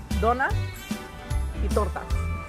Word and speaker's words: Donuts y Tortas: So we have donuts, y tortas.